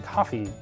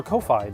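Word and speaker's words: Ko-fi: and consider supporting us on coffee or kofi depending on how you want to pronounce it it works kind of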